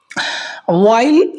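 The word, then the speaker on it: while: वाइल the cheats pretended to work, जबकि वाइल मतलब जबकि, इसको वाइल पढ़ना दोस्तों, WH हमेशा मोस्टली जो होता है वो साइलेंट होता है, तो इसको वाइल पढ़ना।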